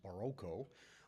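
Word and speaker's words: barroco: The word is derived from Portuguese and it in Portugal it's pronounced Baroco and it means oddly shaped pearl.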